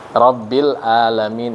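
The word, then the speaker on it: رَبِّ الْعَالَمِين: ala nah ini ya bukan pakai Hamzah sering juga dengar pakai banyak robbil alamin nah ini keliru fatal bisa merubah arti rabbil alamin itu bisa merubah arti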